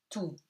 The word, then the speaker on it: tout: Tout. OU gives you OU, et T is silent.